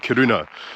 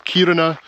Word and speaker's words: Kiruna: City in Sweden now I think I've been saying it wrong I've been calling it kiruna but the stress should be at the start of the word so it's kiruna but please forgive me